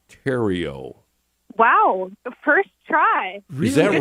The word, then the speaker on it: Theriault: l uh t and I'm thinking that it's pronounced Tero Wow first try is that right really exactly